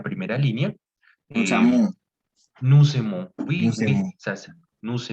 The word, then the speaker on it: nous aimons: en el español, que cuando una palabra termina en consonante y la siguiente viene en vocal, puedes hacer una conexión de esas dos palabras para que eh, suene como una sola, ¿no?